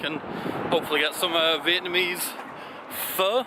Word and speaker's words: pho: Show you guys what a French market's like, and hopefully get some Vietnamese pho, I think it's pronounced, or pho, it's spelled P-H-O, but we'll see.